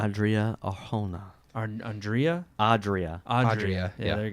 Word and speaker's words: Arjona: I think it's Arjona. I got the last name because I had to look up the pronunciation. No, it has that J. It's definitely Yeah, J. Arjona.